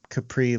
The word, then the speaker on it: Capri: Capri like Capri Sun.